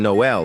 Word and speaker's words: Noel: The L in Noel is silent, but it gets sung loudly every December.